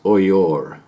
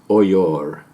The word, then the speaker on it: Oyo: simply headed up the oil and it's actually pronounced oyor so just to get that right this is oyor i was five going on six years old